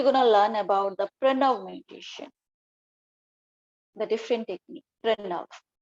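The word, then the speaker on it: प्रणव: The pronunciation is Pranav.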